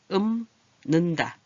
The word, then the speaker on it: 읊는다: 풍어를 읊는다. 읊은다가 아니에요. 여기. 그죠? 읊다 비읍으로 나서 읊는다.